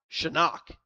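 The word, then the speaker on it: Psenak: Miles is going to take the rubber again and Shinock is going to take his take his swings now. I would never have thought p s e n a k would be pronounced Shinock.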